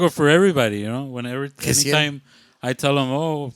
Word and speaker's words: Gessiel: No, but they did the Jaciel. Yeah, they did the echo. And it was Gessiel.